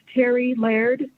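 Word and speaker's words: Terri Laird: committee members my name for the record is terry laird that's spelled t e r r i l a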